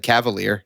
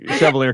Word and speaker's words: Chevalier: I said cavalier. like a scrub. Caviar. Oh, yeah, it's definitely Chevalier because I just Chevalier.